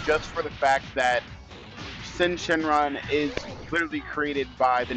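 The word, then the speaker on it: Syn Shenron: Shenron it's really it's sin Shenron that's how they pronounce it though I think the Y is just silent there he is back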